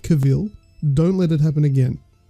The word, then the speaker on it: Cavill: time in this episode I just have to correct snugs on his pronunciation of Henry Cavill it's not Cavill don't let it happen